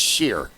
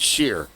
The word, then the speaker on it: shire: It's sheer. It's pronounced shear.